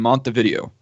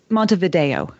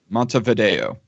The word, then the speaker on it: Montevideo: Just Montevideo. Montevideo. Yeah, it's just that the video part of it is so the E is a long A, and that's the stressed syllable.